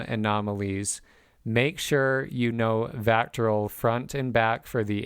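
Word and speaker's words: VACTERL: What is Vectoral? That is spelled Vactterl.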